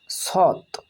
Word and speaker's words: সৎ: এটাকেই লক্ষ্য করলে তোমরা খন্ডত্বের উচ্চারণ সহজে করতে পারবে। যেমন সৎ দন্তেস খন্ডিত সৎ অর্থাৎ এই খন্ডত্বটা ত এর মত উচ্চারণ হয়।